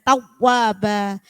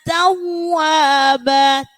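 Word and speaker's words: تَوَّابًا: Kalau tawwaba itu kan seperti terputus. Tawwa, ditekan tapi tetap mengalir. Innahu kana tawwaba, tawwa, ditekan tapi mengalir, tawwa. Nah, masih banyak yang bacanya innahu kana tawwaba. Nah, benar ditekan, cuman itu ada terputus. Jadi harus mengalir. Innahu kana tawwaba. Jadi ditekan tetapi harus tetap mengalir.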